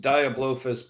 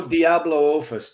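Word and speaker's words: Diablophis: Yeah, Portugalophus, Diablophus, Parvoraptor, and Neophis.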